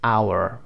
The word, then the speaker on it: hour: پس تنها جایی که صدای H ما تلفظ نمیشد اینجا هست که کلمه ساعت هست، hour.